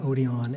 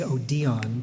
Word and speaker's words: Odeon: seminary on the site were done in the Odeon and that is all of the programs and brochures and flyers that I could find always listed the Odeon as the or I should say Odeon because that's how it was given in the